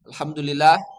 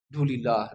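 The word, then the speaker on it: الحمد لله: Ketika dia mengucapkan subhanallah, maka ucapkan subhanallah. Subhanallah. Ya, bukan kalau orang cepat bacanya apa? Subhanallah. Subhanallah. Subhanallah, subhanallah. Subhanallah. Alhamdulillah. Jadi apa? Dulillah. Dulillah. Dulillah. Ini bukan tabyid.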